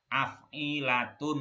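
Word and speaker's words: أَفْعِلَة: Ini bacanya nih af'ilatun gitu. Jadi ini a-nya ini fathahnya di la. Kasrohnya di ain. Fa-nya sukun ini. Jadi bacanya af.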